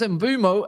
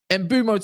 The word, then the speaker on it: Mbeumo: To bring up my mood though, Amorim wants Mbeumo out, or I think that is how you say it. I double check. That's how you say his name. Mbeumo to Manchester United, and Delap, as it stands,